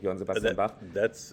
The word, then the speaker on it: Johann Sebastian Bach: So Johann Sebastian Bach, sorry, I cannot other than pronounce him in German, in the German way, Johann Sebastian Bach.